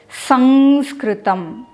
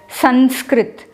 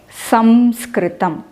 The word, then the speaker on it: Samskritam: cannot pronounce this as Sanskritam. It is Samskritam. And many places I hear people pronouncing it as Sanskrit, but no way we can put a na there.